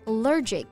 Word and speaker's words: allergic: 对，我感觉是不是国外人的体质原因啊，他们很多人都有过敏特别严重的食物，所以餐厅啊都会特别注意要问一句。那过敏啊，我们就可以用 allergy 这个单词来形容。注意发音的时候，重音在第一个音节，但是当它变成形容词 allergic, 重音就变到第二个音节了。